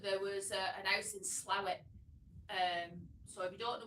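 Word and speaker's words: Slaithwaite: this house but there was a house in slow it um so we don't know where slow it is it's also pronounced slave where but the Archer people pronounce it slow it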